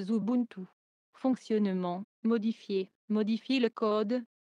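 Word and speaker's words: Xubuntu: et se prononce mabunus comme xubintu se prononce zubuntu fonctionnement modifier modifier le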